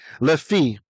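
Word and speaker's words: לפי: got a strong hit so this the pronunciation changes lefi LEF the lamid here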